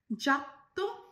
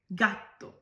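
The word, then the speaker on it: gatto: Next, কোক্কোলাতো উচ্চারণ করলেন, এটা হবে চোক্কোলাতো। নেক্সট, জেলাতো বলেছেন, রাইট, এটা তো জেলাতো। নেক্সট, জাত্তো, এটা হবে গাত্তো।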